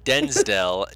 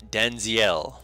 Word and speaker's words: Denziel: Not Denzdel, Denziel.